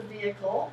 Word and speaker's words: vehicle: We don't pronounce the H as a vehicle.